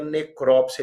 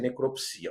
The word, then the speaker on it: necrópsia: São palavras de dupla prosódia ou de pronúncia optativa, tá bem? E você pode falar autópsia, autopsia, necrópsia e necropsia.